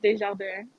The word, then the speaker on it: Desjardins: While we're talking about pronunciations, it's pronounced Desjardins.